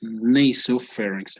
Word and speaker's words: nasopharynx: were talking right before this a right here is uh pronounced this way between an a and an e right it's nasopharynx i mean this naso